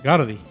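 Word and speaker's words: ガーディ: Growlithe en japonés se pronuncia Guardi.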